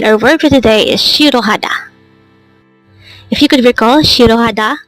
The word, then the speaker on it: 싫어하다: it can be conjugated how do you write shirohada in hangout this composed of four syllables but the first syllable what it is